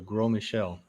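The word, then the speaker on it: Gros Michel: a banana called the grow michelle and that's spelled g-r-o-s m-i-c-h-e-l but s in grow silent silent i don't know why yes and uh aka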